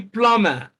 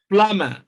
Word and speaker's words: plumber: Option B, plumber. B is silent there. So plumber, plumber.